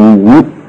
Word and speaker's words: 亡: 今无矣，就是这个亡字就读无啊，读成无。那么俺们也可以读亡，也可以读无，但是讲